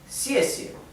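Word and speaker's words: 谢谢: Como verán, la primera sílaba tiene el tono que cae, que es el cuarto tono, xie. Y la segunda sílaba es neutro. No es xie, no es xie, porque la segunda sílaba no lleva tono neutro.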